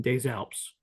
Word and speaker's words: Des Alpes: There is no H in Des Alpes. One with a link. And Now, it's pronounced with a Z because it's French. It's DES, new word, ALPES.